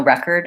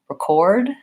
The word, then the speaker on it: record: pronunciations usually for example another example record I have no record of that versus record I'm gonna record the video to watch it later so that is one syllable stress rule and pattern that's